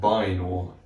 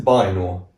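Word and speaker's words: βαίνω: with this one we're going to start with Bor this is spelled beta Alpha Iota new and the then Omega so this is Bor and it means I go or I am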